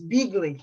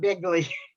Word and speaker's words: Beagly: was a teacher but i keep mispronouncing his name but it's beagly not bigly oh okay hey tell